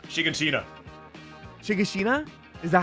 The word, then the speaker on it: Shiganshina: Shigeshina? Is that how we say it? I'm saying Shiganshina. Or Okay, Shiganshina. you know what? Shiganshina, that's how you say it.